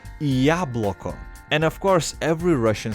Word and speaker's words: яблоко: This letter is actually pronounced as E, and the letter Ya is a completely different letter. Now, with this letter being in front of this word, you can say яблоко.